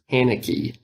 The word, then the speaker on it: Haneke: I was reading that the guy who created this, I think his name is pronounced Haneke, that he didn't even think he was making a horror film.